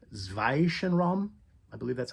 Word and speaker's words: Zwischenraum: The album is called Zwischenraum. I believe that's how you pronounce it, Zwischenraum.